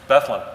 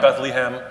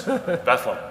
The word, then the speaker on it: Bethlehem: why is that well if you think about Bethlehem it's like bedlam same idea sort of